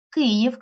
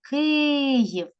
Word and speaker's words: Київ: на Господа і знову Київ кличемо слово Київ наголос падає на перший склад на і Львів кличемо слово щоб